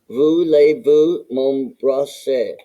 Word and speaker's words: voulez-vous m'embrasser: It says down here, this sounds like voulez-vous m'embrasser?